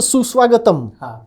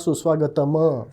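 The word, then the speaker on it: सुस्वागतम्: that's called a Halen by the way so Su swagatam right the m has a Halen at the end so that's how you know that you are supposed to pronounce it suswagatam not sus Swagat right right so Sanskrit makes it obvious unlike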